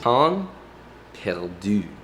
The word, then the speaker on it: pain perdu: I believe it's pronounced pain perdu, which sounds like pample moo.